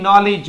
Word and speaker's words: knowledge: इसके अलावा KNOWLEDGE बताया था, DG में D नहीं बोला जाता तो EGE, नॉलेज, village, कॉलेज, package, message.